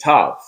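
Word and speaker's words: ת: Bien sûr, le Tav, dans sa prononciation, se prononce en utilisant la consonne T, Tav.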